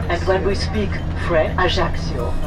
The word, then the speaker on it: Ajaccio: pronounced like an SCH, Ajaccio. And when we speak French, you know that in French language the pronunciation is nearly always on the last syllable, so we say Ajaccio.